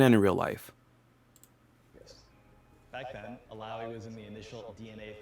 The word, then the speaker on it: Illaoi: We revealed Illaoi in our Okay, last August.